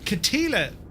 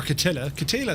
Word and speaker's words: Kittilä: So, iniBuilds Kittilä, or Kittilä I think it's pronounced, airport.